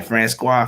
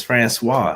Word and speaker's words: Francois: over the place so she's saying friend squad friend squad and i'm like it's francois she's like man whatever your name is i'm like if i can pronounce y'all names with all the all the adjectives and the right and the apostrophes and the loves and judges y'all can pronounce francois right friends francois francois